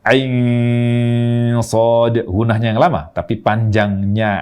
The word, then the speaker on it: كهيعص: ke huruf Shad jadi panjangkan ainnya Ain Shad panjangkan ainnya dulu ya jangan baca Ain Shad ghunahnya yang lama tapi